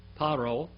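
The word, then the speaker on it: פרעה: Paro. Now look at the word, here it's paro instead of pharaoh. It's the same word, but it's pronounced differently for euphony.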